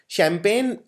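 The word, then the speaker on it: champagne: इसमें जी आता है और 90% लोग ये वाला जी नहीं लगाते हैं क्योंकि ये जी बोलने में नहीं आता है।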